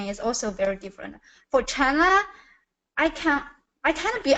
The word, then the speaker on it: China: this one Chana so I'm hearing cha cha instead of chai CH China so it has that long eye sound in it that if you get